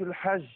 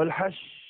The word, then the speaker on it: الحج: اشهر معلومات هكذا ا مشايخنا كانوا يقولوا ان انت عشان تنطق الجيم صح مساله تقريبيه طبعا ان انت اللي بتكون الجيم تعاطيش الجيم قريب للدال اقرب منه منه منه للشين فاقول الحج الحج ولا